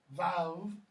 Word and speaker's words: vav: Though, in most scholars say that's actually pronounced vav.